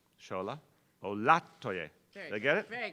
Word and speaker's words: Olatoye: With that, our new chairwoman of NYCHA, Shola Olatoye. I did it wrong again. Olatoye. Second syllable, I can do this. Shola Olatoye.